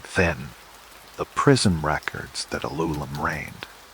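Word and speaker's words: Alulim: The first among them, the one whose name begins this extraordinary lineage was Alulum. Say his name softly, letting the syllables drifty. Aloo Lemon.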